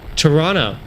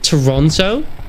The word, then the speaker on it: Toronto: Apparently you don't pronounce the T's. My girlfriend's always on me whenever I go Toronto. But the T's are written. It's there. There's two of them. That makes Toronto. Doesn't make Toronto.